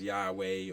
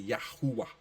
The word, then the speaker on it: Yahuwah: tetragrammaton is like basically the name yahuwah most people say as Yahweh or Jehovah but it's really yahuwah yeah if we go